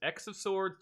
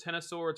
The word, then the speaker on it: X of Swords: yay uh ryan craig is it supposed to be pronounced x of swords tennis swords or cross of swords i've heard all three and i'm still confused i'm gonna say ten of swords because of the tarot